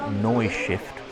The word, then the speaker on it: Neustift: There's a layout here in German outline, Neustift, I believe it's pronounced. So Neustift, Neustift.